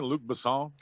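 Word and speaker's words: Luc Besson: was luk am I saying it right Jason Luke basson you said it perfectly that was the perfect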